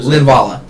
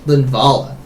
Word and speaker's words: Linvala: interesting they only have one leav uh bra linvala linvala sorry man we need a pronunciation key that's just above the monitor yeah